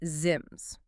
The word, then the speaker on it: zims: For instance, take a simple single-syllable Enochian word like zims, Z-I-M-S. It means clothing or vestures. Pretty straightforward. Oh, right. In the Golden Dawn phonetic system, that becomes something like zod-e-mezod. 4 syllables instead of 1.